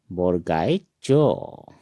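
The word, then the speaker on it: বৰগীয়া জ: ज, ज, ज को असमिया में बोरकाई जो कहते हैं और इसका उच्चारण हम पढ़ेंगे बोरगाई जो।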